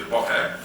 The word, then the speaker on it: bokeh: But also, as we close down the aperture, we see the bokeh. That's how I've apparently been told to pronounce it.